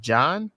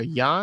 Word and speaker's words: Jann: uh I think is is pronounced John or Yan y he actually played